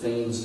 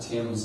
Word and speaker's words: Thames: the Thames River, and they do pronounce it Thames down there, not Thames like in London, England.